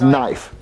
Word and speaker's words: knife: pronounce you know Jeffie the K is silent you won't you I